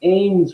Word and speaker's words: Ames: Is that how you say it? The Ames room. It's named Ames.